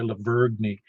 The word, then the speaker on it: Lavergne: Yeah, that's right, Lavergne. Well, everybody in Wilson County pronounces Lebanon wrong, but that's just me.